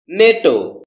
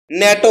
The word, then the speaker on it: NATO: নেটো এটাকে আমরা ন্যাটো বলে থাকি। যার সঠিক উচ্চারণ হচ্ছে নেটো।